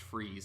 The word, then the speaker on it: Fries: Freeze, the Batman villain's civilian name, or his civilian last name is Freeze, but it's spelled the same way Fries would be spelled, but it's pronounced Freeze.